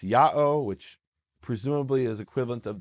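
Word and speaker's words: Ιαω: one instance which is Yota Alpha Omega the letters pronounced Yao which presumably is equivalent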